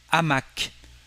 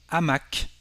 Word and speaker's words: hamac: To say a hammock, in French we will say un hamac. No connection between the two words, but again, this H is silent. We don't pronounce it, we just have a stop between the two words.